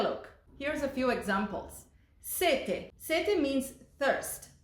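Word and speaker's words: sette: Set. Set means thirst. If we add an extra t in there, it becomes set. Now, set means seven. The pronunciation and the sound of these words changes as well.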